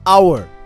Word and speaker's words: hour: example in the word our the H is silent it begins with a vowel sound ah so we use an